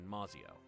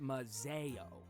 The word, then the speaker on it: Mazio: It's a letter from the Thorns, back in Mazio. It's actually pronounced Mazeo. Really? That's not what I've heard.